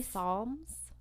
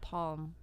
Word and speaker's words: Psalms: kabad was a very Psalms Psalms PS L Ms I thought they were called Palm well it has a p but you don't pronounce the p pronounce the S it was PS I